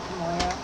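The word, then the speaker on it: K'Moia: Kamoya? Moya? Kamoya. Moya! I figured it was at least somewhat pronounceable for people.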